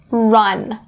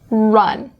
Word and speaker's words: run: The only pronunciation point you need to be aware of is upon the R sound in run. Now, it might be easier for you to pronounce this R sound if you stick your lips out and up, like I'm going to do.